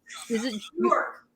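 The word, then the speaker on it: Björk: York. Bjork. You say, okay. The J is silent.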